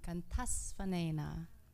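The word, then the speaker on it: ghaṇṭāsvanena: Gantasvanena. Gantasvanena. That's a compound with ganta and svanena.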